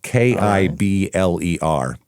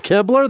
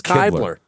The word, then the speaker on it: Kibler: K I B L E R. Kibler. Uh That's Kibler? That's Kaybler. It's Kibler.